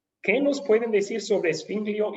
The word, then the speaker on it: Zwingli: ¿Qué nos pueden decir sobre Zwinglio y Calvino entonces?